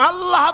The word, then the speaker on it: আল্লাহ: আল্লাহ আল্লাহ পাকের উচ্চারণটা হচ্ছে আল্লাহ পাকের নামের উচ্চারণ হচ্ছে আল্লাহ আল্লাহ মুখটা একটু গোল্ড হয়ে যাবে বলেন আল্লাহ আল্লাহ